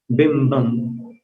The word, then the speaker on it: बिंबम: बिंबम, बिंबम व में मिलाना, बिंबम, फिर वियद, वियद द पर रुकना, विलस, विलसदंश, विलसदंश ऐसा उच्चारण करना, विलसदंश, बिंबम वियद विलसदंश लतावितानम।